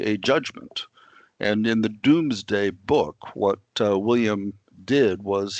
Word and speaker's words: Domesday: something that's called the Domesday Book. I sometimes joke about how the British don't pronounce anything right, and this word, a doom, is spelled D-O-M-E, but it's pronounced not dome, but doom.